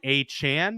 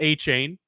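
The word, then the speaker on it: Achane: on Miami uh Devon a Chan which is what he wants to be called apparently there was report he is not a chain he even told the Dolphins media staff uh to change the pronunciations in the media guides it is a Chan apparently uh the rookie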